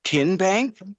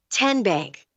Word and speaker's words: TN Bank: Tin Bank. Uh-uh. So, what is it? Tenbank. 10 as in Tennessee.